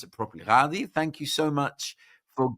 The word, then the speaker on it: Ghadi: Sorry, I pronounce it properly. Gaudi, thank you so much for giving up your time to be with us.